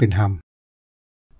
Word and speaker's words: ฮำ: ว่า เมือง ฮำ สวนมอญ คำ ว่า ฮำ นี่ ก็ เขียน ว่า รำ แต่ ก็ ออก เสียง เป็น ฮำ เมือง กลั ป้า เส้น